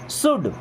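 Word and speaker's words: should: शुड। शुड means होता है चाहिए। देखिए यहां पे एल साइलेंट। ओके? शुड है, वुड है, कुड है। यहां सब में एल साइलेंट होता है ना?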